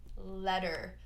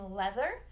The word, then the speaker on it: leather: So in American English, those double T's between the vowels are pronounced as a flap T, letter. So a lot of times when someone can't pronounce the TH in leather, that's what we hear is letter. But we don't want that. We want the leather.